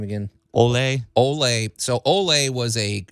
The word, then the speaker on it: Ole: what was his name uh how do you pronounce his first name again Olay Olay so oay was a he was a